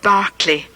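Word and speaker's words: Berkeley: on the right commemorates Bishop George Barkley it's spelled b r k e y but English people call it Barkley and the college in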